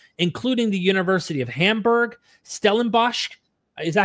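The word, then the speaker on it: Stellenbosch: Around the world, including the University of Hamburg, Stelenbos, is that how you pronounce that?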